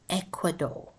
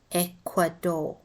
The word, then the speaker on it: Ecuador: learn these countries as a vowel spellings and pronunciations are awkward Egypt Egypt Ethiopia Ecuador note the Y in Egypt is pronounced like